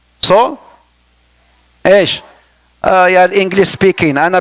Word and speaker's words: Saul: Is that Saul? Is that how it's pronounced? Saul?